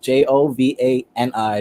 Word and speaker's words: Jovani: many V's it's just j-o-v-a-n-i no G no I no o no Geo so when I tell people think of it like Joe so you want to say my name be Jovani not Giovanni not think of it